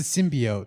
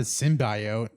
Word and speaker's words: symbiote: It's a symbiote, not a symbiote. Whatever. Did you go to medical school? No, but I've heard it so many times in Spider-Man literature that I know it's symbiote, not symbiote.